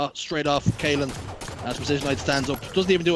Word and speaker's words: Procisionite: Precisionite, not procrastinate or anything.